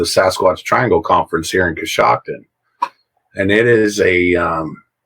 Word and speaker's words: Coshocton: Coshocton. Okay. Coshocton.